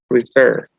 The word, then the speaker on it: refer: Y la mayor fuerza de voz cae en la última sílaba, porque no decimos refer. Tiene que ser refer, refer.